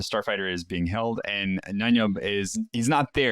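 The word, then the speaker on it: Nien Nunb: Is that how you pronounce it? Is it Noombi or Noom? Nanyub. Thank you.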